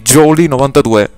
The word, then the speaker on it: Jawlie92: Sì, AW si pronuncia O nel mio caso, quindi Jolly92.